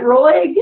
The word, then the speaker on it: Roig: Is it Roig? Am I pronouncing that right?